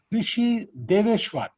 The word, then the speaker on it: Rishi Dwesar: Rishi Deveshwar. Am I right? Is that how it is Yes, sir. Yes, pronounced?